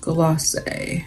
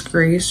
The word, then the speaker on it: glacé: So this is their lippy stick in glacé. I was calling this Grace for the longest time, which is why this